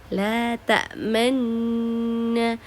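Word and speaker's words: تأمنا: ayat 11 di sini nun tasdid di situ kita wajib memonyongkan bibir. Jadi seakan-akan membaca dhammah padahal tidak ada. Tetap kita membaca fathah di situ.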